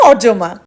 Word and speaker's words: অর্যমা: হাই আই এম অরজমা। A Bengali girl currently living in Canada. যদিও বিদেশীরা আমার নামটা উচ্চারণ করে আরিয়ামা।